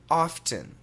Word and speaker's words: often: The next word, perfect American pronunciation, often, often, often, O-F-T-E-N, often.